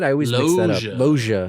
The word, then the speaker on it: Loggia: Loggia. Loggia.